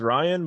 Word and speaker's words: Wyane: it was Ryan, but it was spelled Wyane. Okay. Yeah, because it was supposed to be like the W and the E silent, but people would always like mispronounce it.